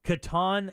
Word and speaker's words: Catan: just oh are you is it Caton or Katan and the Masters of the Universe Settlers of Katan Katan is that how it's pronounced yeah Katan and Masters of the